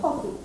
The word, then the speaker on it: hockey: Stress on the first syllable. Hockey.